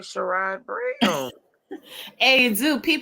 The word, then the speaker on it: Sherrod: Sherrod, Sharrod. Yeah, SHE. No, it's Sherrod too, spelled like a black person. Yeah, SHERROD.